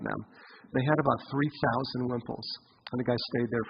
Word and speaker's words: wimple: There's a tradition that with every Torah scroll there would be a wimple, or pronounced in Europe a vimple, and it's after you